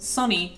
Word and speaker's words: Sony: You know, like, Sony's mascot, original mascot, was actually pronounced Sonny.